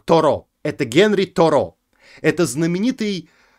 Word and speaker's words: Торо: знают это генри дэвид торо тора ударение на последний слог тора это генри торо это